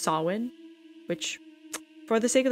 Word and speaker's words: Samhain: candy Halloween actually originated from the holiday of Sam Hayne which in my research I actually found out it's pronounced salwin which for the sake of the podcast I'm